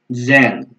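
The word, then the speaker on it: zehn: Tadi huruf Z-nya di depan, ya, Zen. Ya, kita biasa ngomongnya Zen, gini ya.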